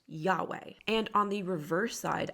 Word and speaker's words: Yahweh: divine name, often spelled and abbreviated as YHWH, pronounced Yahweh.